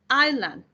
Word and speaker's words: island: then we have an island here also you have to be really careful with the pronunciation great please be careful great because i'm not going to pronounce the s pronounciation uh she's from